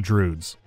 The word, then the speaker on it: Друид: Иронично, что другое слово, которое иногда произносят странно – это «Друид». Иногда, они говорят «Друд».